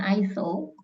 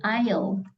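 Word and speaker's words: aisle: ini bacanya apa apa Eel Bukan isel tapi Ail Oh a ini artinya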